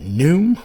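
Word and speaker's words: Pnoom: They named it Prepare to Meet Thy, is it Noom with a silent P? I think that's how you pronounce it.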